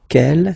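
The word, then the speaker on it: quel: S feminine plural and the good news is that you will pronounce them the same way all right so k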